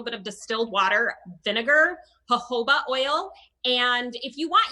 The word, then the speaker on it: jojoba: with a little bit of distilled water vinegar jojoba oil and if you want you can add